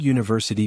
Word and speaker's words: university: then good question Emma the word university begins with a u which sounds like u a consonant sound so we say a